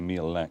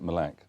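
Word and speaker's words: Mille Lacs: We went to a place called, we would say Mille Lac, but they pronounce it Mille Lac.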